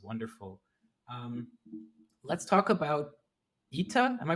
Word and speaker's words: ETTA: um let's talk about ITA am I pronouncing that right ITA or ETA your company ETA like a he's like the name Etta James what okay who I